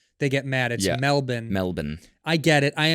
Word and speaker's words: Melbourne: been in Melbourne right Melbourne Yeah right they say you say male born they get mad at Melbourne Melbourne I get it